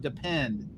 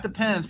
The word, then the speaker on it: Depend: a a pallet of depend not depends people say it wrong depends it's dependent and